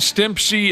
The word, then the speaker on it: Stimpy: he's not a dog Ren from Ren and Stimpy a Stimpy is how you say it Hong